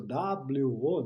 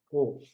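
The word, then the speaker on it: を: Tá certo que em hiragana ele é sinalizado por WO, né? O, mas se pronuncia O.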